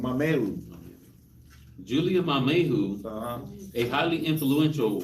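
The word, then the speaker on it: Mamaea: That's how you pronounce her name, Mameu.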